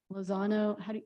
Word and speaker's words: Lozano: Recommended action is that the Board of Trustees select the legal firm of Lozano, is that how you pronounce it? Yes.